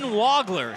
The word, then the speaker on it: Wagler: the bank that is wagler Keaton wagler spelled w-a-g-l-e-r but pronounced wagler more of an o w o sound and he's one of